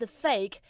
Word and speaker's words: PHEIC: The World Health Organization defines a global health emergency, or PHEIC, pronounced PHEIC, as an extraordinary event declared in face of